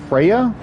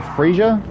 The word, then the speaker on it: Freyja: I think her name is Freya or Freyja, depending on how the J is pronounced.